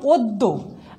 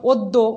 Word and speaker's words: অদ্য: সাথে একটা অ আছে, এই অয়ের পরে যখন জফালা থাকবে তখন আদ্য অয়ের উচ্চারণ ওয়ের মতো হবে। যেমন অদ্য অদ্য, গদ্য গদ্য, পদ্য পদ্য,